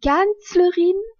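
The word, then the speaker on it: Kanzlerin: K a n Z l e r dit canlerine c'est la chancelière canlerine s'écrit K a n Z l e r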